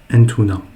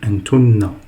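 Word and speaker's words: أنتنّ: On ne dit pas entuna, on dit entunna.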